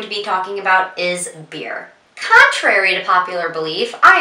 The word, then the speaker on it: bier: a funeral home and this beer instead of being spelled b-e-e-r is spelled b-i-e-r and a beer is